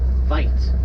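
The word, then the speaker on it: wyd: as black right now they get their name from a mispronunciation of the afrikaan word fight which means wide lipped so actually there's the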